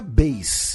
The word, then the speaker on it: Bass: Na verdade, né, pronuncia Bass, né?